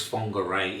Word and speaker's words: Whangarei: one of the places we checked out was fongarei in new zealand's north island i hope you enjoyed this video as it's pronounced is quiet and laid back its focal